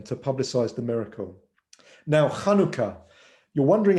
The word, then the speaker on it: Hanukkah: looks like a courtyard it's a guttural sound from deep in your throat and so if you're wondering how to pronounce hanukkah it's a hebrew word